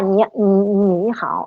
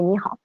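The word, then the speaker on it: 你好: C'est-à-dire que dans le cas, par exemple, de Ni Hao, on n'aura pas troisième ton, mais on va avoir deuxième ton, puisque c'est en effet ce qu'entendent les élèves et ce que doivent prononcer les élèves, sachant qu'on ne dit pas Ni Hao, mais Ni Hao.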